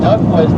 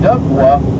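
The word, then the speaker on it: DUKW: So D U KW duckwa. Everyone used to pronounce it.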